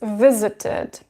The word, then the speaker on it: visited: So this verb finishes into t sound. That is why we add ed and we pronounce it as visited, visited. Yeah, pretty simple, but there